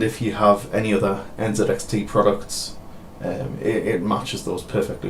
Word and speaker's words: NZXT: the UK here and we don't pronounce that a Z so this this brand is NZXT for me however I'd be quite